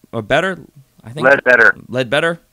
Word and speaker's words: Ledbetter: and the six they got defensive end Jeremiah led Burt or better read better Ledbetter it's a weird last name they also got